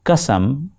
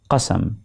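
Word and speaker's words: قسم: and Muhammad Rafi, however, many new artists do not pay attention to the Urdu diction and often pronounce qa as ka, as if it is the same as ka. You will hear them say qasam for what is qasam.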